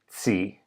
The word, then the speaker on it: ci: There is, strictly speaking, a separate singular form of you that you would translate thou, and it's pronounced tsi, but it's very rare in practice.